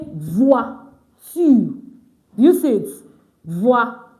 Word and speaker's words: voiture: pronounce car, you say voiture. Do you see it? Voiture. So this is just giving you instances. It's pronounced voix. It's just giving instances of, OI, wa. OI, wa.